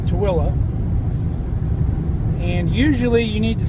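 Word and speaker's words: Tooele: a little Community called toilla I used to think it was called Tuli cuz that's kind of the way it's spelled on the signs but the locals call it toilla and usually you need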